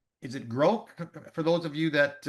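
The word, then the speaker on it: Grok: Uh, I believe it's pronounced is it gro for those of you that uh Grock Grock more familiar with this one than I am?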